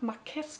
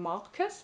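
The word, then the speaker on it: Márquez: Ich habe übrigens immer Marquez gesagt und jetzt mal gemerkt, dass ja eigentlich die Betonung auf dem Marquez liegt.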